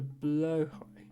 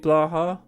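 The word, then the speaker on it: blåhaj: When I first got the shark, I was calling it blah. Um, but then we we we corrected ourselves and started doing it correctly.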